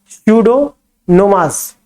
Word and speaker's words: Pseudomonas: हाँ, विनाइट्रीकृत, जैसे कि स्यूडोमोनाज, कैसे लिखेंगे, स्पेलिंग देख लेना, PSEUDOMONAS, इसे क्या बोलते हैं, स्यूडोमोनास। हाँ, स्यूडोमोनास, हाँ, इसे पी इसमें साइलेंट है।